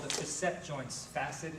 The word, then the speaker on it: facet: back of the joints called the cassette joints facet it's pronounced beset FAC et Fassett joints the hole